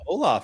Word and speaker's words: hola: Wendy's in here saying, hola, friends, with a silent H.